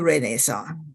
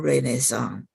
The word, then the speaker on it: Renaissance: as a Renaissance but the the Nay is important because that means birth and re only means again so nay is important